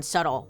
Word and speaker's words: subtle: Don't get me started on subtle. What is up with that B?